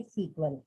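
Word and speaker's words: SQL: हैं structured query language, और बोलने में हम प्रोनाउंस कहेंगे सीक्वल।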